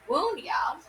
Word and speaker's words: Wunjo: Wunjo, Wunyo. Okay, here we go. Pronounce Wunyo.